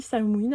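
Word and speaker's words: Samhain: dans les énergies de Samain je sais on dit samine apparemment mais euh je bloque avec cette prononciation donc je vais continuer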